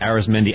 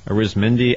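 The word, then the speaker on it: Arismendy: league de on Wednesday we've discovered that his name is pronounced differently and I had it wrong yesterday what is it and it's ARIS meni Alanta okay Aris mendi alcanta uh but he had four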